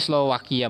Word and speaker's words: Slovakia: Tulisannya sih Slovakia, tapi Slovakia bacanya. Oke.